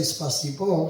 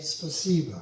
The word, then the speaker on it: спасибо: Someone told me, don't say spasibo, say spasiba. Кто-то мне сказал, не говори спасибо, а говори спасибо.